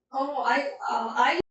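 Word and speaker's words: aisle: I 하면은 통로란 뜻이에요. S는 묵음 처리해서 I'이라고 발음하면 됩니다.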